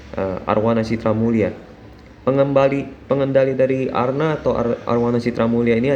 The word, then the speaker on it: ARNA: Nama perusahaannya adalah Arwana Citra Mulia Tbk, atau kalau di kode sahamnya itu ARNA, dibacanya Arna.